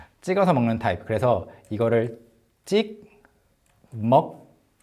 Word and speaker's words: 찍먹: 그래서 이거를 찍, 먹, 부, 먹. 발음할 때는 찍먹, 부먹, of course. 이렇게 발음해요.